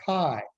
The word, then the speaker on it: chi: And even though it looks like it says chi, it's pronounced chi. Rhymes with sky, y, and try.